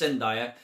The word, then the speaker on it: Zendaya: And I thought John David Washington and Zendaya were... Zendaya? I always say it wrong. I think it's Zendaya.